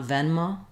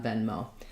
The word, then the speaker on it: Venmo: okay and then lastly venmo has the same stress pattern as paypal first syllable stress second syllable is also stress it's not venma but we do have a clear o diphthong here on venmo letter e in venmo is the same e sound as in zell the red tent vowel